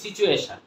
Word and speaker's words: situation: টি এর পরে টি ইউ যদি উচ্চারণ হয়, টি ইউ যুক্ত কোনো বর্ণ যদি থেকে থাকে বা কোনো ওয়ার্ড থেকে থাকে, তাহলে আমরা এর উচ্চারণ কি করব? উচ্চারণ চ হয়ে যাবে।